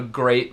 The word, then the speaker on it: great: Greet e great então na palavra great ótimo muito bom ah a gente tem e e a junto mas se pronúncia e como hard e por exemplo